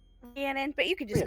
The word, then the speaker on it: Rhiannon: And that will bring us to, correct me if I mispronounced this, but Rhiannon? Rhiannon, but you can just call Rhiannon.